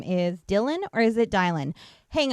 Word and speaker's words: Dylan: in my mid 20s uh that most people pronounce d y l an as Dylan I had a kid in my